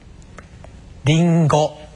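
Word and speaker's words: りんご: 이번에는 세 번째 음가로 우리말의 이응받침처럼 늘리는 경우입니다. 들어 보세요. 링고.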